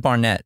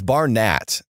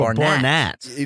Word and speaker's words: Barnatt: Oh, Barnatt. I've always said Nathan Barnett. You can say it like that. That's fine. Like okay, most Nathan, people say. So you don't have to accent the A as hard.